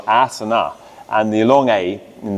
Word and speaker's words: asana: If you have a long A, then it's traditional asana.